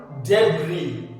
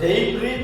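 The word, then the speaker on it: debris: ആ വേസ്റ്റിനെയാണ് പറയുക ഡെബ്രി ഇത് നമ്മൾ ഡെയ്ബ്രീം എന്ന് പറയാറുണ്ട് ബ്രിട്ടീഷ് ഇംഗ്ലീഷിൽ അങ്ങനെയാണ് എഴുതി വെച്ചിരിക്കുന്നത് രണ്ടും പ്രൊനൗൺസിയേഷൻ കാണിക്കുന്നുണ്ട് ഡെബ്രി എന്നും ഡെയ്ബ്രി എന്നും ഡബ് റിപ് ഇ ഡെബ്രി മറ്റേ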